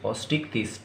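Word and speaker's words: Osteichthyes: इसका pronunciation clear रखना, OSTICH, ऑस्ट्रिक्थिस, THYES, ऑस्ट्रिक्थिस।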